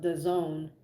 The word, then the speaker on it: DAZN: Yeah, I'm just assuming it's because of his affiliation with the Zone, or DAZN, which is really how it's spelled, right?